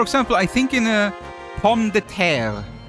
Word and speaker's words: pomme de terre: Like for example, I think in a pomme de terre, right? Like that means potato, right? Pomme de terre, and that has like a little R at the end that you usually pronounce a little bit, right?